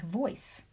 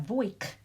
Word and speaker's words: voice: create the right pronunciation consider a word like voice or siege without the e on the end we would have voice and see the e is not acting as a magic e it's not creating long vowel sounds it's simply there to give us the right pronunciation for the C and the G now there are times